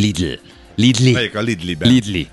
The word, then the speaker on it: Lidl: Én jó vidékiként a Lidl trendre Lidlinek mondom, ez csak akkor ciki, ha olyanoknak mondom, aki rendesen ejti, hogy Lidl.